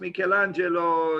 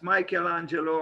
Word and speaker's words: Michelangelo: michelangelo in italian is pronounced michelangelo in english perhaps michelangelo i will i will